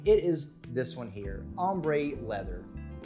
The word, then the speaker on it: Ambre: It is this one here, Ambre Leather. Or maybe it's pronounced Amber Leather, but when you look at it in this Tom Ford style bottle, you definitely want to say Ambre Leather, like it's supposed to